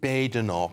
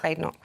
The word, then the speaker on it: Badenoch: Or what she says there's no bad in her name. Did she? Oh, I'm glad you yeah, now I know, yeah. Because I hear it pronounced so many different ways, and I didn't know if there was... I get it muddled as well, but I heard her say there's no bad in Badenoch.